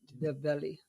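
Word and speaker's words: Ndebele: The belly. The belly. The inner silent.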